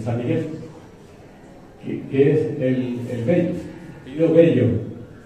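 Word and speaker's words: Velho: Y originalmente era V-E-L-H-O. Se pronuncia Bello.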